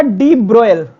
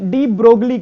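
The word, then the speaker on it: de Broglie: की स्पेलिंग ये थी, इसका नाम था डी ब्रोयल। इंडिया वाले इसको प्राय से डी ब्रोगली कहते हैं।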